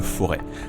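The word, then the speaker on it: Forez: Sur les images que vous appréciez là, on traverse le Forêt, avec un Z, mais le Z ne se prononce pas, vous observez que je fais quelques efforts.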